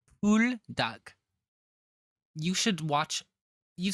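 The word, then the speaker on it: Buldak: some buok spicy Ramen it's not Bo it's po duck pool duck you should watch you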